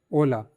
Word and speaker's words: hola: letter is "H" (ache) The letter H has no sound in Spanish. It is written, but it is not pronounced.